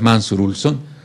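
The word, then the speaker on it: Mancur Olson: se llama mansur ulson se escribe Pero es mansur ulson en la pronunciación eh que en los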